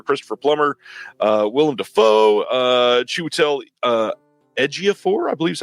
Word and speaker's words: Ejiofor: This is the 2006 really great movie starring Denzel and Clive Owen and Jodie Foster, Christopher Plummer, Willem Dafoe, Chiwetel Ejiofor, I believe is how you say his last name.